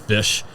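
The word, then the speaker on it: Fysh: I say it like that, fish. F-Y-S-H.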